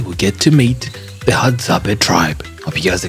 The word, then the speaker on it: Hadzabe: You pronounce it as Hadzabe tribe. Hadzabe.